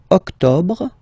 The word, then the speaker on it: octobre: Don't insist on the final E. Octobre, octobre, octobre.